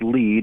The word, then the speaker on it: Lead: where are you at I am uh in lead it's spelled lead that's one thing we learned here that it is actually pronounced lead we're in Lead South Dakota uh family got